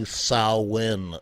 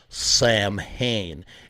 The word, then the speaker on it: Samhain: name of the band it's actually sauwin it's not samhain even the band even glenn danzig he pronounces the name of his band wrong it's actually solid okay it's the sow like a cow and then in like you're going in a door okay it's like everybody